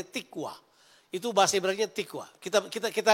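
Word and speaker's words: תקווה: Itu tikwa. Tulisannya tikvah, bacanya tikwa.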